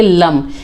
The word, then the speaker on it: लं: इसे हम बोलेंगे, प्रोनाउंस करेंगे लम।